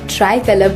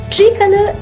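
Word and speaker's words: tricolour: तो चलिए अब हम ट्राई कलर बोलना सीखते हैं। ट्री कलर इसका गलत उच्चारण है। इसे सही से बोलने के लिए पहले बोले ट्राई, फिर बोले कलर, जोड़कर बोले ट्राई कलर।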